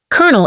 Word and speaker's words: colonel: from how it's spelled it's because the word came from French and Italian where the pronunciation evolved but don't worry after